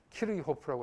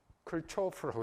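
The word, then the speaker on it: Kirchhoff: 키로호프 하면 우리나라 사람들끼리 통할 때는 키로호프라고 하는데 러시아 사람이니까. 근데 미국 사람이나 영국 사람 만났을 때 키로호프 하면 못 알아들어요. 뭐라고 해야 될까요? 클초프라고 해야 돼요. 클초프. 미국 사람이나 영국 사람하고 대화할 때는 미국 사람의 발음대로 해야 됩니다.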